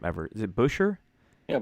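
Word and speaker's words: Buescher: I can't pronounce his name ever. Is it Busher? Yeah, Busher.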